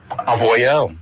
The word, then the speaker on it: Avoyelles: So how do you say Avoyelles in French? Avoyelles.